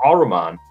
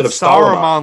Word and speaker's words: Saruman: They didn't even pronounce the S. They just kept calling him Ahriman. They said Saruman like once or twice.